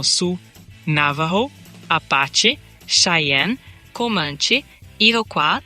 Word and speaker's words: Sioux: Cherokee, Sioux, que se pronuncia algo como Su, Navajo, Apache, Cheyenne, Commanche, Iroqua, muitas vezes dito como Iroqua, e Seminole.